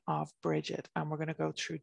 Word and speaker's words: Brigid: see and we would always pronounce that bridget so it's kind of like a j for the g sound in old irish there